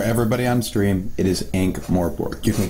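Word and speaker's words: Ankh-Morpork: Yeah, for everybody on stream, it is Ankh Morpork. You can call me Ankh if you want. Just know the proper pronunciation is Ankh.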